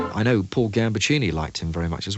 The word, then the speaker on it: Gambaccini: pronounced it right because with a name like ambuccini you always face the possibility of exotic variations I mean I get exotic variations in post I've had Mr Lamborghini or Mr garbachini and so to hear them sing your name pronounced correctly well it was